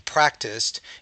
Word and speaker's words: practiced: continued to be practiced notice continued so I have a D sound and then practiced it's more of an S uh a t sound so the Ed ending will change in its pronunciation based on the environment there so continued so we have continue and then we have the D sound here and then practiced it sounds more like a t the Ed because it